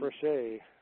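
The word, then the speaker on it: Fréchet: Now here's what if I would like to have I'm sorry, I can't pronounce this, Frechette rather than a Weibull distribution. That's a F-R-E. Frechet.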